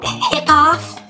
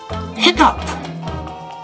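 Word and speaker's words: hiccough: sound like no dolly is it hit off no no you're all wrong are you even paying attention this word is hiccup hiccup go on say it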